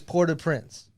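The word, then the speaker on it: Port-au-Prince: place you hear is pora Prince and I know it's spelled like Au like aou you know love that sauce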